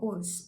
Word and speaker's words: Ouse: with stones and she walked into the river oats um that's the correct pronunciation because she saw another mental illness bout